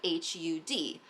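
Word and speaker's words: Har: pronounce it with while the R is kind of retroflexed. So, the tongue goes back against the roof of the mouth when we're chanting it. So, it kind of sounds like H U D Hud Hud Hud Hud.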